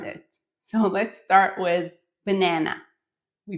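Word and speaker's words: בננה: It is banana, although formally it should be banana, stressing the last syllable, but no one does it. Everyone says banana, and you should too.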